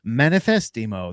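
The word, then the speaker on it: Manifestemo: It's Manifestimo. That's spelled manifest -emo.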